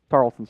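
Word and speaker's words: Tarleton: Tarlton State.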